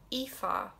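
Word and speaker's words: Aoife: lot of ifas and i know it's probably one of the most difficult to guess how to pronounce i don't think anybody would get it right on their first go because there's like so many vowels in there they're just missing you ifa means beautiful radiant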